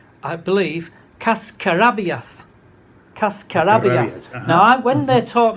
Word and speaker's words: cascarabias: And she taught me that the word is, and I'm going to pronounce it correctly, I believe, cascarabias.